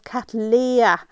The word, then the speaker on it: Cattleya: The genus is correctly pronounced as Cattleya, as I'm regularly reminded in my comment section.